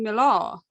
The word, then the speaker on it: Millar: Also, it is pronounced Millar, right? Not, not Millar. Well, this is the thing, because... I called myself Millar, I always have, but then everyone started calling me "Milah" as opposed to Jacques-Alain Miller.